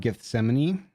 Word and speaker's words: Gethsemane: Uh, this artwork is an angel comforting Jesus before his arrest in the garden of Gethsemane. I think that's how you pronounce that.